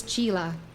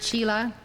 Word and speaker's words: chela: The word chela in Hindi is called chela. If you wish to use that correct pronunciation, you are welcome to. I first heard the word